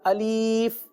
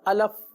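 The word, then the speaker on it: ألف: करना बहुत जरूरी है अगर हम इसकी हिज्जे करें आपने देखा कि यहां पर अलिफ के साथ जो है यह छोटा सा आपने यह जो दायरे के अंदर बना हुआ है इसकी हिज्जे तो अगर आप इसकी हिज्जे करें हमजा जबर आ लाम फा जेर लिफ क्या बन गया अलिफ अब देखिए पढ़ना बहुत आसान है लेकिन अगर तवज्जो ना हुई तो बाज औकात अलफ अलिफ अलीफ इस तरह के रूफ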